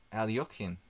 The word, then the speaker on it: Alekhine: mean preparing what I mean flawless way of pronouncing the surname not to defense as black Oh Ally okyun ally okyun okay here what do we got